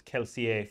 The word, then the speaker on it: Kelsier: point out that I'm always going to pronounce it as kelsier from now on you can say calcium like a really snooty French accent yeah yes yeah and I'm